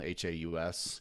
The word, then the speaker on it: Haus: Haus is how you say that.